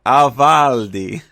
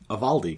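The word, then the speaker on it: Ávaldi: his own named AAL avaldi how do you say that one a valdi a valdi not not like it's a spicy meat the ball okay all right he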